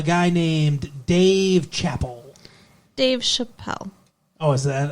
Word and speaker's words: Chappelle: named Dave Chappell Dave Chappelle oh is that how it's pronounced yeah like it's French I guess it's not spelled like Chapel it's spelled like Chappelle it's spelled like it's French he's a stand-up comedian